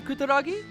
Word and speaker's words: Kutaragi: for the 64-hour special you like uh ken kutaragi i do so do i and that is the proper pronunciation and let me say that again the